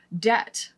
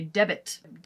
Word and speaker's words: debt: a silent s there debt for example has a b in there so you could say debit debit you can say it wrongly in your mind in order to remember that there is a silent letter in there the trick is separating